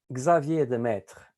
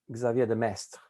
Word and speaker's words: Xavier de Maistre: Because he had a brother, and this brother was called Xavier de Maistre or Xavier de Maistre. You know, there are two different pronunciations.